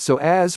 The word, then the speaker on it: psoas: It's often called the mighty psoas, pronounced so as for the many important functions it plays in the movement of your body.